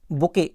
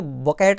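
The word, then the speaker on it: bouquet: इसके बाद बुके, बुके माने होता गुलदस्ता, इसको बकेट नहीं पढ़ते हैं ना, बकेट वगैरह नहीं पढ़ते, वो अलग है, बाल्टी होता है उसका अर्थ, स्पेलिंग भी अलग है उसकी।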